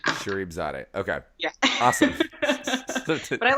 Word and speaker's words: Sharifzadeh: pronounce your last name it's pronounced English translation shereif Zade Shere Zade yeah exactly how it's spelled Shere Zade okay yeah awesome but